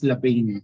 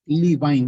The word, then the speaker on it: Levine: Actually, guys, tingnan, ang pag-pronounce ito is term as Lavain. Tama? Lavain. So, syempre kay Pinoy, Levine. Tama? Okay, dapat pronounce system siya, Lavain.